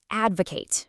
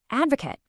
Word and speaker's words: advocate: But the way you finish the word completely transforms its meaning. Okay, so as a verb, representing an action, we pronounce it advocate, meaning to urge support.